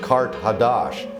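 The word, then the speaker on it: Qart-ḥadašt: Carthage in the ancient language is pronounced Kart Hadash and that means new city.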